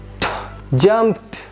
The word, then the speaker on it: jumped: When we have these all letters after these letters when ed comes ed will be pronounced as t jumped kicked rushed danced.